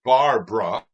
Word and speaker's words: Barbra: Instead of Barbara, it's just Barbra. Kind of abridged it, 2 syllables, and just wanted to stand out a little bit in that way and be unique.